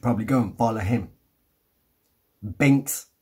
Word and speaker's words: Bingx: go and follow him Binks I think he pronounces it I pronounce it being X well Binks live one